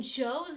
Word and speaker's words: Joe: In Joe's name, he has the magic E, the silent E there, because it just sounds like J-O, Joe. But it actually has the silent E to make that O into a long sound.